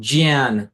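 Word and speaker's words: ज्ञान: What you pronounced was also not the correct pronunciation. Jyan is the correct pronunciation.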